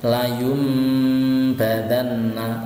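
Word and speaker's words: لَيُنْبَذَنَّ: Cara bacanya adalah layumba, layumba, layumba. Jadi tidak bisa layunba atau layumba, tidak. Tapi suaranya nun sukun, ya, itu harus diganti dengan suaranya mim. Jadinya layumbadanna, layumbadanna.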